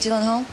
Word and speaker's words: Gyllenhaal: Je crois, Gyllenhaal. How do you pronounce my name? Jake Gyllenhaal.